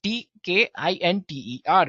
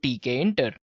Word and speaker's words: Tkinter: Yes, it's spelled as Tkinter, right? So it's Tkinter, guys.